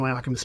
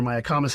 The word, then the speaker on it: Mayacamas: It comes over the Mayacamas Mountains or Mayacamas Mountains, depending on how you want to pronounce it, if you're pedantic.